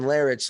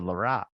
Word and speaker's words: Larratt: a guy named Devin Larratt, and Devin Larratt's like, you can it's Larratt. Joe If Rogan you said Larat. Yeah, I know. He said it right.